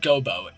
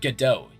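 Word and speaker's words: Godot: It's not Gobo, it's GDO, your honor.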